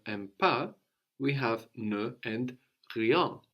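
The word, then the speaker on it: rien: we have no and Creon spelled i IE n young yeah and it works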